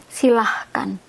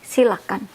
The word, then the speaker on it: silakan: There's no H when you have to write it. But sometimes pronouncing, we use the H. Silahkan. Right should be silakan.